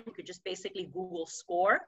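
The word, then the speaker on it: Scoir: that the district has adopted and it's called score um it's spelled s-c-o-i-r and what this is is basically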